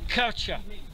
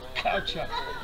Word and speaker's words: caucha: We call it caucha. It's spelled with a C-A-U-C-H, but it's spelled pronounced caucha. And you kind of guttural that first C, it's caucha.